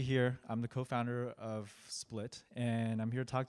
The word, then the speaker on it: SPLT: Yale with SPL tea it's pronounced split but you know people like seem to like